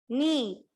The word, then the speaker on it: knee: So here in this word, the K is silent. K is silent here. Okay. K and double E. Knee.